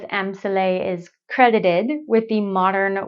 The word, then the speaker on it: Amsale: Well, the first thing I learned looking this up is that I've been saying it wrong. It isn't Amsale, it's Amsale, which is the designer's first name.